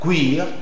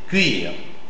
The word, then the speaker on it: cuire: cuir truite h lui mais c'est pas où c'est u. U je sais que c'est difficile mais il faut faire l'effort de dire u. C'est parce que c'est pas cuir mais cuire.